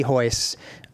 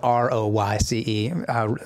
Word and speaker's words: Royce: Lee probably would be hoist Gracie has spelled ro yce most people mispronounce it Royce when they first see it right just like I